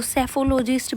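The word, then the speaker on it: psephologist: आप एक ऐसा वर्ड बहुत सुनते हो जहां एस से पहले पी आता है और वो साइलेंट होता है। तो सेफोलॉजिस्ट भी आपको हमेशा याद रहेगा।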